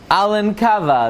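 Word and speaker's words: Elnkowa: to close at the Keva of Ruby Rafael Alan Cava that's the way to pronounce it Alan cava he was a descendant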